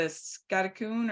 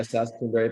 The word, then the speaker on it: Saskatoon: pie that you like, the scattercoon or Scattercoon, actually. Yeah. Soon, but it's close. What is it? Syllables. Yeah, Saskatoon pie. Saskatoon. I was close.